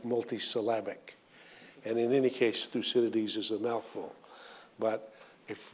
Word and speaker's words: Thucydides: thinker and his name is 1 2 3 through Citadis in unison went through Citadis loud clatter so